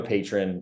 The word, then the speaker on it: Patreon: Go become a patron is how to pronounce it, but it's on Patreon.